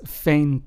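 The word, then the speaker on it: veinte: is pronounced as escoba whereas we have vain which means 20 in Spanish is pronounced as Fain almost like if it's started with an F right but not really so that is the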